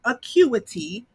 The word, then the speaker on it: Acuity: a dog on service you guys acuity scheduling acuity is how you pronounce it acuity okay i'm gonna pop it up on the screen here acuity okay you must add scheduling because otherwise i